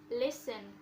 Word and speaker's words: listen: one is letter t the letter t is silent in common words like listen christmas and castle and then the letter